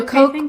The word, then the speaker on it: Koch: So like you said with the Cook brother, I don't know how to pronounce it, Cook. The Koch brother, K-O-C-H, yeah.